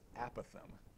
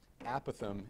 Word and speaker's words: apothem: That math word is apothem. And if you're looking ahead in your notes, you probably see that under the definitions. Apothem is the correct pronunciation of the word, but